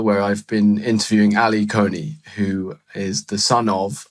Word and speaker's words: Kony: his name is not Coney, it's Con. It should be pronounced like cognac," he said, but without the a.